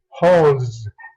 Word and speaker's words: holds: Aquí, holds, holds, pronounce.